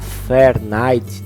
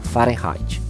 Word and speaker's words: Fahrenheit: Algumas pessoas podem pronunciar Fahrenheit do inglês, né? Mas como ele era um alemão, eu vou chamar a pronúncia em alemão, Fahrenheit, certo?